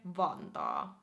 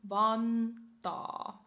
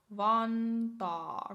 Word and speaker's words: Vantaa: So we have Helsinki, Espoo, Tampere, Vantaa. Vantaa. Again with the double A in the back or at the end. Vantaa. Vantaa. Not Vanta. Vantaa rather.